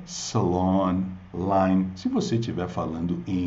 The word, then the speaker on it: Salon Line: causam também confusão Salon Salon Essa é a pronúncia de salão o salão de belezas Beauty Salon então a marca é Salon Line se você tiver falando em inglês é claro